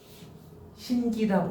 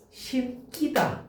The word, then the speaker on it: 신기다: 다만 피동사동의 전미사기는 된 소리로 발음하지 않은대요. 자, 심하라고 써요. 여기가 나오면 시험이 어려운 거야. 신기다 보여. 그지? 왠지 우리가 신끼다 이래야 될 거 같잖아.